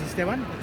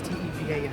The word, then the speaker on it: Estevan: My name is Esteban. It's Estevan.